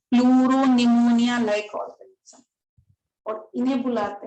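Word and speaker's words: pneumonia: तो इसमें क्या है कि जो आपका P है वो साइलेंट है, प्लूरो निमोनिया लाइक ऑर्गेनिज्म।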